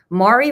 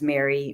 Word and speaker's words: Mari: So Mari rhymes with sorry. Marisol was always like, I thought, a very Cuban American name, and I wanted to use it. And then I came up with Mari rhymes with sorry because everyone reads Mari and thinks it's Mary or Marie.